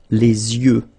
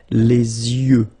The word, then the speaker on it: yeux: Okay, so l'œil, singular, and then the plural, Les yeux. Okay, you make this liaison between the two. Les yeux. Okay, final X not pronounced.